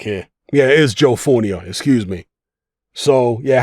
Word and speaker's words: Fournier: land serious punches on his billionaire friend, Joe Fournier? That is how you pronounce his name, isn't it?